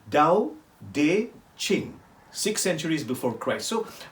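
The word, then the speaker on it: Tao Te Ching: wonderful book t-a-o-t-e-c-h-i-n-g but pronounced like the t with a d dao de ching six centuries before christ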